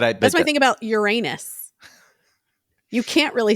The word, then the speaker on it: Uranus: you say Uranus or you say Uranus and then you're saying urine. It's not as bad as Uranus, but it also kind of sounds everyone knows what you're doing in that in Uranus. Like okay, you're just avoiding saying Uranus. I think the real way to say it is like Uranus like if you're Greek or something.